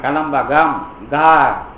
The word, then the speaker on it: கலம்பகம்: எழுதிருவல்ல க அப்படின்னு சொல்றீங்கள இதுவே கலம்பகம் நடுவுல க வருதுல்ல வடமொழிக்கார பசங்க க போட்டீங்கன்னா கலம் பக்கம்னு படிப்பான் டேய் அப்படி படிக்கக்கூடாது நடுவுல வந்தா க வந்து ஹ சவுண்டு வரும். ஆனா வடமொழியில ஹிந்தில எல்லாம் வேற எழுத்தை போட்டுருவாங்க. அதுக்குதான் அவங்க நாலு க வச்சிருப்பாங்க கலம்ப கம் கம்பான் நாலு எழுத்து போடுவான்ல அதுக்கு பதிலா தமிழ்ல ஒரே எழுத்துதான் ஆனா இடத்துக்கு ஏத்த மாதிரி உச்சரிக்கணும் நடுவுல வந்ததுன்னா சவுண்டு கொஞ்சம் ஹ சவுண்டு போட கலம்பகம் அப்படி சொல்லணும் முதல்ல அழுத்தி சொல்லணும் இது வந்து